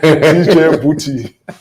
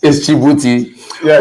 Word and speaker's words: Djibouti: And strangely, people are saying DJ Booty. DJ Booty. You know, that's the thing when it comes to pronunciation. Once people are not familiar with certain words, they want to break it down into syllables. So it's like someone saying Alif Banjo. So they want to put it in syllables. So it's DJ Booty. Yeah, DJ. No, but it's Djibouti on a very serious note.